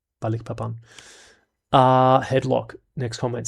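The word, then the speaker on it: Balikpapan: Is it Balik Pan or is it Balikapan? Balik Papan. Balik Papan.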